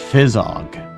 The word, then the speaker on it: fizzog: It's pronounced fizzog and it means a person's face or expression.